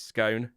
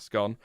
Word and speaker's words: scone: It's scone, not scone.